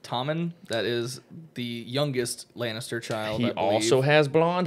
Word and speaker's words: Lannister: like so we'll put him there now seriously Lannister did I say it right yes you did